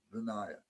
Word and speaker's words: Vinaya: like the vinaya teachings that's the proper way to pronounce it vinaya it's the vinaya teachings